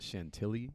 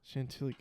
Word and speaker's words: Chantilly: that it's like c-h-a-n-t oh look at that it's exactly how it sounds yeah Chantilly oh what is that